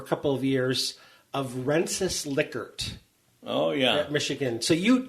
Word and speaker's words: Likert: the Likert scale and which everyone pronounces his name wrong pretty much I hope I got it right and saying Likert that's huh yeah but